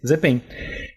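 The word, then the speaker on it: 日本: Pronuncia-se Zepen.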